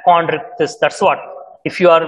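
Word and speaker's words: Chondrichthyes: under gratostomata is chondritis it is pronounced as chondritis that's what if you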